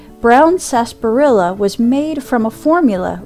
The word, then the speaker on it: Sarsaparilla: And isn't it weird how it's spelled like Sarsaparilla? But I've always heard it pronounced Sarsaparilla.